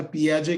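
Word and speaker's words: Piaget: आणि पियाजे असं म्हणतो पियाजे ची spelling P आय ए जी टी जरी असली त्याचा उच्चार पियाजे केला जातो पियाजे तर असं म्हणतो कॉंक्रीट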